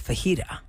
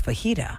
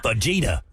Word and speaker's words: fajita: would not know this right the word is fajita the word is fajita Vegeta the mispronunciation pronoun Vegeta bet bet you had family